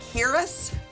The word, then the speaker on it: Huiras: My guest is Harris.